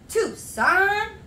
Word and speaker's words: Tucson: getting into some cod tucson two son c is silent okay that's what i